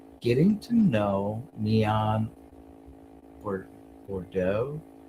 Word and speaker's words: Bordeaux: Bodeaux. And the X is silent, I'm sure. So that's French.